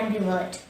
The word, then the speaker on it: ambivert: that i am an ambivert the word angry word has three syllables and b word the stress is on the first syllable and so say and be worked and be worked and revert to conclude an ambivert is